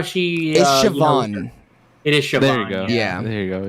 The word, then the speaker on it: Siobhan: lot actually yeah I like how she is Siobhan it is there you go yeah there you